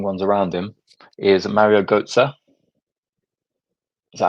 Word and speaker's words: Götze: Is Mario Götze. Is that how you pronounce his name?